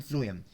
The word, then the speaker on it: phloem: वैसे start P से होता है लेकिन प्रोनाउंसिएशन की बात कर रहा हूँ मैं. तो फर्स्ट से फ्लोएम, फर्स्ट से फूड.